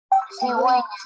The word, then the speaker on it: cigüeña: Entonces, solo se va a repetir o se va a pronunciar la U cuando tenga esos simbolitos o esos puntos que se llama diéresis. Cuando no tenga, la U se convierte en muda, cigüeña, como tenemos en